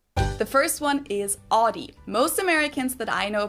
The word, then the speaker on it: Audi: What we would do is we would tend to use our own vowel from the words mouth, sound, bow, etc. Of course, that's not exactly like the German Au, but what we're doing